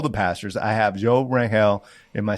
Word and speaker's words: Rangel: I have Joe Rangel. Am I saying it right? You say it faster than me. Rangel.